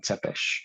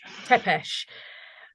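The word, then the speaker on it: Țepeș: Tepeesh. Tepeesh.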